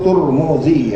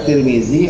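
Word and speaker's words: الترمذي: Tidak usah heran terkait dengan pelafalan ya, kayak Tirmizi seringkali juga disebut Turmuzi ya, ada Tirmizi, ada Turmuzi gitu ya penyebutannya, dua-duanya benar ya, dua-duanya benar.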